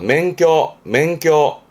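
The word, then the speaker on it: 免許: 맹껴. 뒷글자가 역자라 전염병 역자인데요. 면역력입니다.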